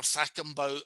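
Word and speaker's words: Cakobau: And the reason I pronounce Thackenbow as I do, but the letter C appears, is because in Fijian, a C is pronounced as we would pronounce TH.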